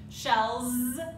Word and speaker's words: shells: continue do you notice even though the word is spelled with an S at the end it's actually pronounced with a Z shells yeah so make sure